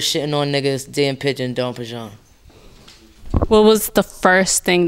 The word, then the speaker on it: Damn Pigeon: It's called Don Pigeon, but you spell it like Dan Pigeon. So if you read it, it's Dan Pigeon, but pronunciation, Don Pigeon.